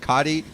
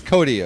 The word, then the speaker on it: Cody: were saying his name i think i was saying something like cotty and he came up and he said it's cody i said okay oh